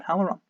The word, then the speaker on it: Halloran: I struggle even, as you may have noticed, with Ben Halloran, which I'm still not convinced I'm pronouncing that right, but there you go.